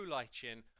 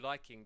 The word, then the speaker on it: lichen: This is known as the glow lichen or the glow liking, depending on how you want to pronounce it.